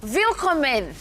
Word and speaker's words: Willkommen: Willkommen.